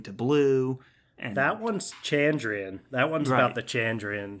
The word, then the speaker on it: Chandrian: know how to pronounce chandrian because it's the rhyme it's like what's their plan and then chandrian chandrian so you're like oh